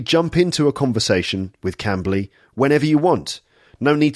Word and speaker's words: Cambly: Cambly, that's spelled C-A-M-B-L-Y, Cambly.